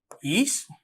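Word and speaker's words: ich: ശ്രദ്ധിച്ചോളൂ, ഈഷ് അങ്ങനെയാണ് പ്രൊനൗൺസ് ചെയ്യുക.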